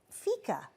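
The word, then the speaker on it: fika: Um, Fica. Yes. I'm pronouncing that correctly because I was reading about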